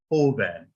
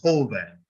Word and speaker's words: joven: The next one ends in an N, right? Remember, we said vowels, N or S. This word has only 2 syllables, joven, right? So therefore, it has to be the first one, because that's the one that's next to the last one. So it's joven. You stress the O.